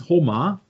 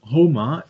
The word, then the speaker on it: Huma: The Huma, Persian pronounced Homa, also Homa, is a mythical bird